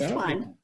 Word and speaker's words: Thuan: Is it Thuan? Is that how you say it? Thuan? Yes, it's Thuan.